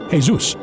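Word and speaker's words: Jesús: Ask any Spanish or Latin-speaking person to pronounce the word Jesus, and they will say, Jesus.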